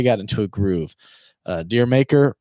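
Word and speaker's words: D'yer Mak'er: into a groove uh dear maker rhymes with jamaica jamaica i didn't realize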